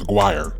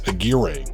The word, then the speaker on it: Aguirre: Even though Mark's last name is pronounced Aguire, his father was from Mexico, so it can also be pronounced as Agira. But Mark never acknowledged this pronunciation.